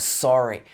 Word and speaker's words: sorry: We need to talk about the pronunciation of sorry in the standard British accent. It should be sorry with its O sound.